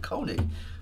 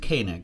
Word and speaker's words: Koenig: I know some people who pronounce it Koenig, but I guess he pronounces it Koenig.